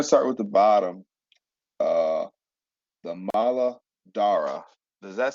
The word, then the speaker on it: Muladhara: Muladhara, the DH could be a TH sound, or you can separate Muladhara. It's all the same.